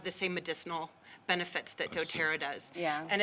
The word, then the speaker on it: doTERRA: the name of your business and you can pronounce it for me dotera dotera and it means gift of the Earth